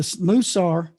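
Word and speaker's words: mussar: called musa it's it's a stud it's a moosar m-u-s-s-a-r some spell it 1-s some spell it too is the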